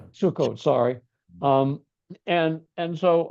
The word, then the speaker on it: Sukkot: correct me it's The emphasis is on Sukkot but okay. Yeah. Sukot.